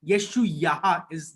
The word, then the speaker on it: Isaiah: हम बोलते हैं हिंदी में यशाया, इंग्लिश में आइजाया, बट the Hebrew word, the Hebrew name was येशुआया, येशुआया। So Yeshu Yahoo, HU, Yeshu यहा, येशु यहा इज द राइट प्रोनाउंसिएशन।